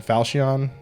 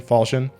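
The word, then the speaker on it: Falchion: fall shooting or Falcon falcion falcion I don't know how to say it it echoes they say fall Shin Like fall chin falchin so that's how I say it generally anyways this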